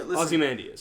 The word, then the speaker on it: Ozymandias: Yeah, Ozymandias.